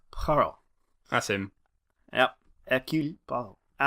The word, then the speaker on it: Poirot: It is pronounced Poirot.